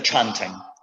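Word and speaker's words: canting: you're wondering that c in indonesian a c is pronounced ch cha so that's a chop and that's that other thing is a chanting okay what you do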